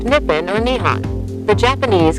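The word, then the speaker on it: 日本: japanese name nihon in japanese the word is pronounced nippin or nihon the japanese call themselves nihanjin and their language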